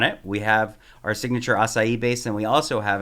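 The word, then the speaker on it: açaí: a lot about the aai I learned to pronounce the word because I always say aai and then I was corrected immediately say it is asai so about a year ago um Sylvester Stallone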